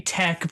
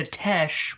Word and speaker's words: Tech: It's supposed to be tech, which is short for technicians. I'm not sure how tech turned into Tesh, but well, you know, whatever. C can make a hard C or a soft C, and if you make it a soft C, then it becomes Tesh.